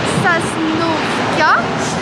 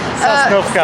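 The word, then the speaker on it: Сосновка: ça s'écrit avec 2 O, mais il n'y a qu'un O qui se prononce O dans les mots.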